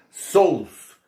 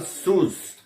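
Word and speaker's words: σῦς: Aí eu vou colocar também uma Bíblia minha em grego aí, grego moderno, onde está escrito sous. Esse é o grego moderno. No grego antigo se pronunciava sus.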